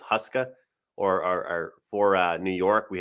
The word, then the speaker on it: Huska: I pronounce his name, but I think it's Huska or for New York. We have a goalie. Is that right? A UConn graduate, by the way. Is that how you pronounce it? Huska, yeah.